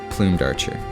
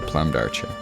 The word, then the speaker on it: Plumed Archer: I'm just kidding, it's pronounced the Plumed Archer, you know, like feather plumes. There is no chance at all that up until this year I've been pronouncing it the Plumed Archer.